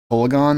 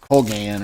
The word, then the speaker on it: Kolaghan: Kolaghan? That ain't how you say his name. It's like Colgan or something.